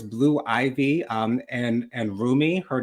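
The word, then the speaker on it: Rumi: Beyonce's two daughters, Blue Ivy, um and and Roomie, her name is spelled R U M I.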